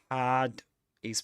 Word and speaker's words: had: Had is pronounced with in its strong form, so we say had to be, not had with a schwa.